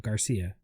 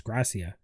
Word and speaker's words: Gracia: this uh this one alex gracia not garcia it's gracia oh gracia okay she she debuted